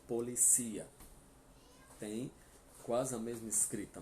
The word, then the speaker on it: policía: Em espanhol é no último. Então a gente pronuncia policia. Tem quase a mesma escrita, mas o acento faz toda a diferença, né? Português, a polícia. Em espanhol, la policía, certo?